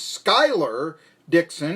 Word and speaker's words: Schuyler Dixon: Now, I've been mispronouncing my next guest name. It is Schuyler Dixon.